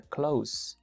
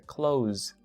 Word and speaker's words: close: buscan en un diccionario, el verbo no se pronuncia close en presente, se pronuncia close. ¿Escucharon la diferencia? No es close, es close. El último sonido no es S, es Z.